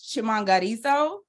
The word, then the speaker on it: Chimangariso: So my name is Chimangariso. It sounds just like the way it's spelled if you ignore the H.